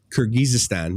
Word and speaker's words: Kyrgyzstan: getting across a bit yes how do you pronounce that what is it it's kurgistan kyrgyzstan yeah so kyrgyzstan always there's always a stand